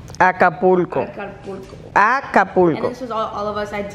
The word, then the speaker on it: Acapulco: so here this is all of us at al capuco oh i don't like saying the name so i'm obviously saying it wrong acapulco acapulco all of us at dq because we